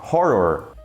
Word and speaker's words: horror: No português, o H em início de palavras é mudo. Só que no inglês ele na verdade é pronunciado, com raríssimas exceções. E ele tem som de R de rato.